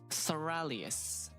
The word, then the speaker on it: Soralius: It's pronounced Soralius, as in Aurelius, but like you have Sora in it, so Soralius.